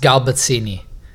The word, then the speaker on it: Sgalbazzini: anything at the moment, it's pronounced Sgalbazzini. Sgalbazzini. That's correct. It's easier to pronounce than it is when you just read it, but once you hear it, you kind of pick it up a lot easier.